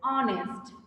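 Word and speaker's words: honest: অনেস্ট, অ এর মতো হচ্ছে, ওভাবেও চিন্তা করতে পারি, অথবা এইচ এর উচ্চারণটা সাইলেন্ট থাকছে এখানে, তাই তো?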